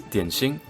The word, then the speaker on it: 点心: And on top of that, Keqing says it, and she's probably a Mandarin speaker, so there is a Mandarin way to say dim sum, and that's dianxing.